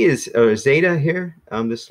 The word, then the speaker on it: zeta: say Zed or whatever it's kind of like there's like a Z and a D back to back like stay data it's kind of way